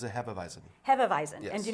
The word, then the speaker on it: Hefeweizen: Hefeweizen, so more along the lines of a traditional German style. Now, so how did you pronounce this again? It's a Hefeweizen, Hefeweizen.